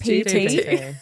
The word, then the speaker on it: GPT: But if you're going to ChatGTP with no idea, is that even how you say it? I think it's GPT.